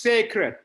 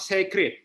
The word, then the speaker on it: sacred: It is pronounced sacred, not sacred.